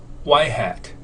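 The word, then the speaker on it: ŷ: predicted value of y and this notation is pronounced as y-hat so the y-hat minus y which is the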